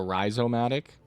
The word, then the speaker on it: Rizzomatic: Fire up the Rizzomatic. Inkstar Super Mario Sunshine speedrunner. It's pronounced uh with a long I like a risomatic.